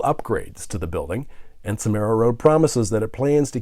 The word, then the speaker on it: SomeraRoad: Is it SomeraRoad? Is that the correct way to say it? Yes, SomeraRoad.